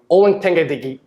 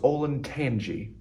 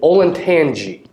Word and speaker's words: Olentangy: bands will be airsville evergreen limashawnee slovenia northview olynyk digi actually it's pronounced olen tanji oh thank you drake olintanji tangies rolls off the tongue olentangy orange and our very own band of class